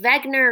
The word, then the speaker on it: Wegener: 13 who was alfred wegener remember it's pronounced wegner because he was german and wow freddie was